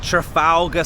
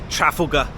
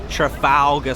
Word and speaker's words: Trafalgar: Let me say it, Trafalgar Square. I watched a video once, an American lady, she was here, and she said Trafalgar. I was like, what? Never heard anybody say it like that.